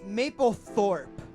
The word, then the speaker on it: Mapplethorpe: theoretical band name is Mapplethorpe all right III didn't pronounce that correctly it's one word maple Mapplethorpe like like the photographer yeah Mike alpha Papa